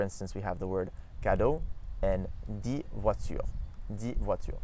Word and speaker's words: cadeau: So for instance, we have the word cadeau and dit voiture. Dit voiture. So we don't actually pronounce the X there.